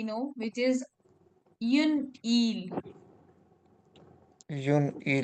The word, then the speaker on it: île: We don't pronounce s, and we replace it with accent.